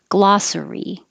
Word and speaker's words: glossary: This one has to be three syllables, glossary, glossary.